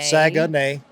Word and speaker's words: Saguenay: Charlottetown, Saguenay. Saguenay. Yep, and then Quebec. I even put it in here, the pronunciation.